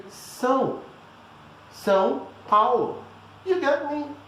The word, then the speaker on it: São: So instead of sound, you just say São.